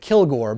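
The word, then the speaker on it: Kilg%re: The next option is another character that I'm assuming is just, you pronounce it Kilgore, but it's kill, then G with a percent sign, R-E.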